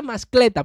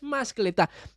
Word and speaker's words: mascletá: se llama mascletá, porque lleva la fuerza de pronunciación en la última sílaba. Fíjense, yo siempre pensé que era mascleta, pero no es, es mascletá, que es, vamos a